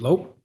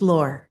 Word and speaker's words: Lore: Next up, Lope, Reverend Lope. Please feel free to correct me when you get up here if I butchered that. My last name's Lore, Lore. Lore, okay.